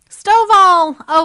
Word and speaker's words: Stovall: But first, I just want to make sure how do we say your last name so that I'm not mispronouncing it? Stovall? Stovall.